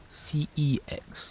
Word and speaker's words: CeX: done slowly going through CeX yes say people pronounce it XX or sex which is now going